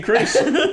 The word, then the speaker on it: Chris: Chrysler's the You don't pronounce the H in Chris or Chrysler. They're both CR.